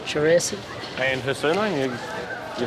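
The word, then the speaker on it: Charissaty: That's pronounced. Cherissity.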